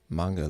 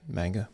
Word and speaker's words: manga: I know that manga looks good. Manga. I think it's pronounced manga, but everybody says manga. Enough people say manga that when I say manga, I feel like I'm trying too hard.